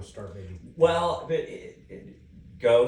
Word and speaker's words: Gogh: Well, but Go spelled like Van Gogh, G-O-G-H.